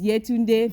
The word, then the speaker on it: Yetunde: otherwise you want to tell them how to pronounce it oh if you if you are watching this from Nigeria my name is yeah tuned a fairly Suki yes and if for some weird